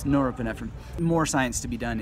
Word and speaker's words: norepinephrine: I somehow started to call it neuropinephrine because of neurons and stuff, but it's norepinephrine.